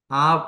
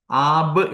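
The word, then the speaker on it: אב: ഈ ആലഫും ബേടും വന്നപ്പോൾ ഇത് ഉച്ചരിക്കുന്നത് ആബ് എന്നല്ല ആവ് എന്നാണ് ബിഗത് കാഫി ലെറ്റസ് എന്ന്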